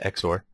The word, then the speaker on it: XOR: an exor gate uh you see it is pronounced exor so this is basically